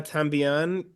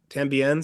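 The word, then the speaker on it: también: Uh, Etu Mama Tambian. Tambien, sorry, I butchered that.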